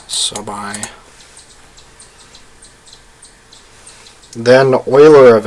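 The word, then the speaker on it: Euler: n is given by the uler function Oiler function I cannot upset the math nerds by mispronouncing Oiler name right given the prime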